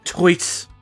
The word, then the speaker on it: Toit: No, that's how I say it. Toit. Toit. Like a toy guy.